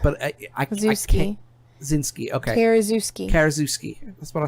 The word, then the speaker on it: Karaszewski: Marlos Forman, Scott Alexandria, and Larry Kazawinski won the Golden Globe for Best Director and Best Screenplay, respectively.